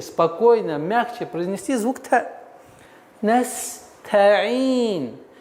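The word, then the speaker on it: نستعين: Не нужно стараться опережать время и переходить на айн, не произносив звук та. Не торопитесь. Нужно сперва произнести та, нес, та. А потом мягче, плавно переходите на айн. Ин. Настаин.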